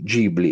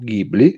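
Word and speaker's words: Ghibli: di Miyazaki dello studio G gibli o gibli scegliete voi la vostra pronuncia giapponese o alla Europea sicuramente attira l'attenzione dal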